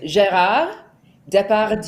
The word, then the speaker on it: Gérard Depardieu: It is Gérard Depardieu.